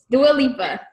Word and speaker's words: Dua Lipa: Is it Dua Lipa? Dua Lipa? Dua Lipa. Brooke says, come on over here, Brooke. Tell the good people how to say her name. Dua Lipa.